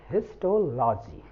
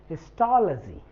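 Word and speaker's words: histology: पढ़ते हैं सब बट no this is नॉट हिस्टोलॉजी this is हिस्टोलॉजी हिलजी मैं लिख दू पहले फिर डिस्कस करू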